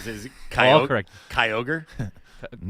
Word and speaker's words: Kyogre: Is it Kyogre? Kyogre? Nigaiwan? it's Kyogre. One of the newer K Y O G R Legendary, yeah. I'm going Ky and ogre.